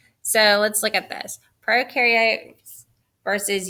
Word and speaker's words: prokaryotes: video they talked about pro rhymes with no so prokaryotes have no